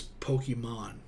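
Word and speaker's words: Pokémon: Pokemon was a thing, say it right, it's Pokemon.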